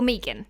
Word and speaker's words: Megan: In today's video, we are doing Megan Fox, or Megan, as I pronounce it. Don't give out to me, guys. I'm Australian, okay? And every Australian that I've ever heard pronounce the name Megan has pronounced it Megan.